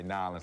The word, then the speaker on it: New Orleans: I say Nolans like that because my dad's from New Orleans. He said people from New Orleans say it like that.